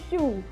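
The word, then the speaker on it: choux: ya ini ini namanya kalau bahasa Prancisnya show tulisannya CH o x Tapi bacanya jadi ini kaya kue sus jadi di dalamnya ada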